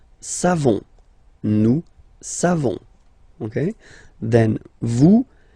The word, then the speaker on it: savons: You don't pronounce the final S. Nous savons.